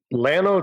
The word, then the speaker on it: Llano: you say is that LA no Texas leh no Texas how do you say where you're at Llano Texas we're an hour and